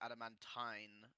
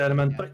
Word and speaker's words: adamantine: By the way, I don't want to be a grammar Nazi, but it's pronounced adamantine, not. Oh god. Oh, did it say adamantite?